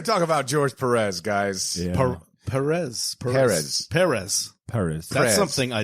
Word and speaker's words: Pérez: perz who says pre me Noz I say perezz perz uh according to like this sci-fi interview